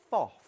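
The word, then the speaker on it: Pfaff: in German it's FOF. FOF. Most people say faff. Yes. Yeah, but it's pronounced FOF.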